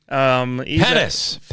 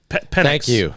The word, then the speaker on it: Penix: I know sometimes you mispronounce things, but Michael Penix Jr. Penis. See, Penix.